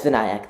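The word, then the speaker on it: Vinayak: and uh welcome uh VNC am I pronouncing your name correctly um no but it's not a problem sorry how do you say your name uh uh it's vanc thank you for asking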